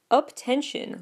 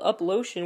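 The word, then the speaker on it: UP10TION: Nam the phandom that uptention looks like it's spelled up lotion with the number 10 in there but it's actually uptention which is supposed to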